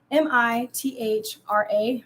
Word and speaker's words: Mithra: look up how to say it but it's m-i-t-h-r-a Mithra and that was the god he was